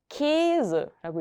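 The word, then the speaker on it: Käse: 그리고 S 다음에 모음이 오면 Z로 바뀌었었어요. 그래서 Keys라고 읽으시면 됩니다. 발음 기억해 주시면 좋겠고요.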